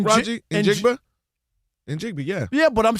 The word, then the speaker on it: Njigba: Njigba, yeah.